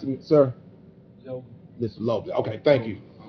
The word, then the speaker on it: Lobley: How do you pronounce it, sir? Lobley.